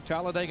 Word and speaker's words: Talladega: for racing here in Talladega Alabama this racetrack almost doesn't need describing it's a four-syllable word it means fear you simply say Talladega metal tribes two point